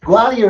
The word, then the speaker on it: Gwalia: It was Gualia? Yes, Gualia is the That's very That's very good pronunciation.